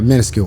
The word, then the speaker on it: minuscule: them uh very minis minuscal how do you say that word uh minuscule there you go thank you not not